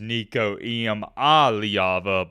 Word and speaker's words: Nico Iamaleava: The correct pronunciation is Nico Iamaleava, but you get the point.